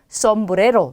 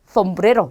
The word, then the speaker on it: sombrero: 에세입니다. 에세. 자, 근데 이 에세도 쌍시옷으로 발음하는 게 맞지만, 자, 일부 지역이나 스페인에서는 쓰 발음이 나요. 그래서 th 발음이 난다라고 생각하시면 돼요. 자, 그러면 얘는 sombrero 또는 sombrero 이렇게 발음하는 경우도 있고요. 얘는 sábado 또는 sábado. 얘는 siempre 또는 siempre 이렇게 되겠죠. 자, 이 솜브레로는 모자란 뜻입니다.